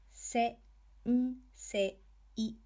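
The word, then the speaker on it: 先生: Se, n, se, I.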